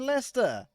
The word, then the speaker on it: Leicester: never been to Le why is it called leester Square then oh it's not in leer where